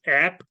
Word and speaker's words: apnea: Not really, because here it's okay, the P is not silent, so it's actually going to be pronounced as apnea.